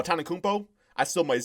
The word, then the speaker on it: Antetokounmpo: Giannis Akumpo, right? No, Antetokounmpo.